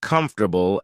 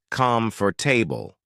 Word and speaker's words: comfortable: For instance, I used to pronounce comfortable as come for table.